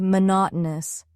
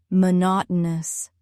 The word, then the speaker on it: monotonous: Now try monotonous. Four syllables. Mo not o news. Stress is on the second syllable. Mo not o news. Repeat slowly. Monotonous.